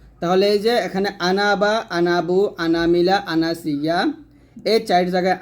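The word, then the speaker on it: أنا: হয় যেমন আনাবা আনাবু আনামিলা আনাসিয়া আর বাকি যত আনা আছে এই আনাকে আনা পড়তে হয় টান হয় না অর্থাৎ যেমন আনা আবিদ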